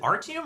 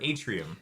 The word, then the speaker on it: Artium: Is it Artium or Atrium?